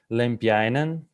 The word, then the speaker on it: Lempiäinen: And the first speaker is Lempiäinen. So yeah, I pronounced it right.